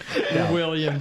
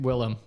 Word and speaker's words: Willem: What's his name? Willem. Wait, it's not William. No, It's Willem Dafoe.